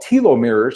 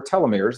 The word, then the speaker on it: telomeres: little of those caps they are called Tilo mirrors or telomeres they're pronounced both ways and now scientists are